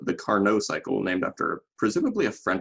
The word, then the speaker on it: Carnot: with something called the Carnot cycle, named after presumably a French guy, because usually you pronounce the T at the end of a word, unless they're French.